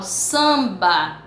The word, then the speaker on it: samba: fonema quando nós estudamos quando eu falo samba eu não falo o m o m